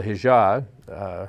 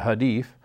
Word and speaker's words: Hadith: He went and got a Quran, read the Quran, read the writings of Muhammad, the Hijab, I pronounced that wrong, the Hadith, and he went and studied, and he said, oh, this is our enemy.